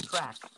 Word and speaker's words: Trak: Her name is Track. Track? Track. Like a racetrack. No, just a track, like TRAK, not a CK. Yeah, track. Like track. Pronounced track. Track. Tech, but with an R.